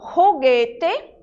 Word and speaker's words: juguete: Em espanhol, a letra J, ela tem um som parecido com o nosso R. Então, quando eu digo juguete, né, eu pronuncio o